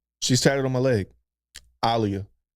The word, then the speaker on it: Aaliyah: Alia. That's how you supposed to pronounce it.